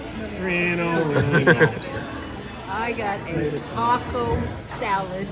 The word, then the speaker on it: relleno: And the chili relleno. Did I say it right? Relleno?